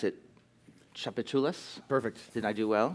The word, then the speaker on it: Tchoupitoulas: her is Bill Ross whose film I'm gonna pronounce it Tchoupitoulas perfect did I do well yes and would